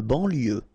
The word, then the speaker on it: banlieue: De banlieue. Okay, final E not pronounced. So I-E-U, I-E, L, lieu, banlieue.